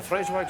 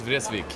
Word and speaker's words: Vreeswijk: Oh, how do you say that? Cornelius Vreeswijk. Vreeswijk? Yes. Vreeswijk. Ah.